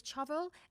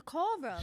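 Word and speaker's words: choral: I'll spell it out for you." C H O R A L. And I said, "Do you mean the coral?" like Paul Rose singing and she went, "Yeah."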